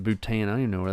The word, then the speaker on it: Bhutan: I feel like I would butcher the name of that. Bhutan would be the best I could come up with. I don't even know where if I'm pronouncing it right, Bhutan.